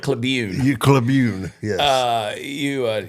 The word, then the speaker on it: Cleveland: spelled Miami it's CL it's spelled curn but they call it cun cun yes uh you